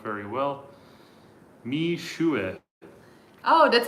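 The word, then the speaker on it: Mixue: Mishue. Oh, that's how you say it, Mishue.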